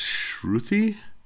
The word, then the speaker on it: Shruthi: I have to get the pronunciation of it. That's Shruthi?